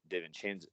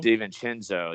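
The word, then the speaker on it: DiVincenzo: guard right now with dave and chen's uh probably not pronouncing that right but steven cenzo davincinzo there we go i don't know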